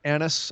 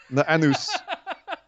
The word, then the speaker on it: anise: I don't mind anise. I don't mind anise flavored. I'd say that very carefully. ANISE. Ew! I like anise flavored things. I don't like licorice. Just don't say it like Borat. No. Anus.